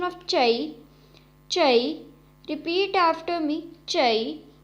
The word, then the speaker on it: zha: So the first is ZHA, has a pronunciation of cha, cha. Repeat after me, cha.